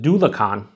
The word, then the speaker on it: Dulachan: and double the hops, pronounced Do Lacan. They actually tell you how to pronounce it.